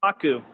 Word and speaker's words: Kohaku: I forgot how to pronounce her name. The main girl. The mean girl. The main M-I-M-A-I-N main. It's Kohaku.